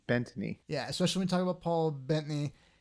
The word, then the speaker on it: Bettany: Bettany.